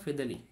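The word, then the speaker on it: Fedele: যার নাম হলো ফরচুন ফেদালি আমরা একে ফিদেলও বলি আবার ফিদেলেও বলি আমাদের স্যার আবার কি ফিদেলে বলতো তাই আমরা ফিদেই বলি কিন্তু আসলে ওর উচ্চারণটা হলো ফিদেল তো ফরচুনেট অফ ফিদেল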